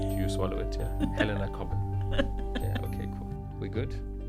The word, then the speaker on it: Cobban: And your surname, I pronounce it Cobbin? Yeah, very nicely done. Okay. No, it's British, so yeah, Helena Cobbin.